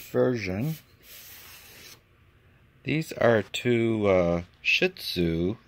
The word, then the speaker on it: Shih Tzu: these are two uh shih tzu is the way you pronounce it which i always try to giggle after i say it my sister's two dogs